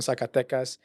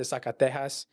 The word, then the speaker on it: Zacatecas: I remember this one was like it was my fault, my bad for everyone from Zacatecas. I pronounced it Zacatejas, and everyone came to but it was the video was great.